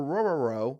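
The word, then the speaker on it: Orhorhoro: interior and Rook or rubber row which I promise you I'm not just you know mispronouncing that name that's actually how the name is pronounced okay so please don't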